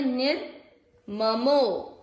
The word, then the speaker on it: निर्ममो: नी के साथ पढ़े, निर ममो निर ममो नीर। ध्यान दीजिएगा पूरा अक्षर है उसमें अपने को अ का उच्चारण मिक्स करना है, निर्ममो नीर, र पूरा है ना इसलिए नीर।